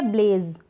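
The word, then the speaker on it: blaze: बहना फिर यह है ब्लेज क्या है ब्लेज यहां पर भी ई को हम प्रोनाउंस नहीं करेंगे लास्ट में हम इ को प्रोनाउंस नहीं करते कुछ एक में करते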